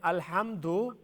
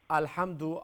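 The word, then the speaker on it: الْحَمْدُ: Alhamdu, after the Ha, there's Meme Sakin, isn't it? Oh, yeah. After Meme Sakin, there's no Ba or Meme, therefore it's Izhar. There's no Ghunna, right?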